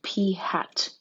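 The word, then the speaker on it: p̂: places so we have p hat that little v upside down v on the p is pronounced p hat like something you wear on your head and then we have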